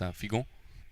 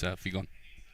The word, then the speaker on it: Figon: Yeah, well, in Creole it's actually pronounced Figon, but in English it's Figon.